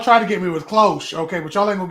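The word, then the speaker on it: cloche: So So Planton says, um, it's cloch and it's a garden protective thing. Okay, close. I was probably pronouncing that H a little hard, but it's okay.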